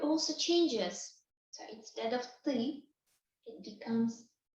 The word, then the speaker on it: ты: So these you that you would use it with a friend is ты. Ты. Sound is a bit difficult.